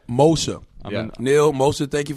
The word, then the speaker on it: Moshe: Moshe. Moshe. Yep. All right. I've been trying to remember it the whole interview. Yeah, no, I know. But it sounds like motion.